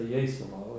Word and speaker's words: Jesolo: they pronounce, Italians say Jesolo, and we have her birth as 1906.